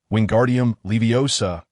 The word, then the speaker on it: Wingardium Leviosa: Pay close attention to my pronunciation. Wingardium Leviosa, be cautious if you pronounce the ephesis.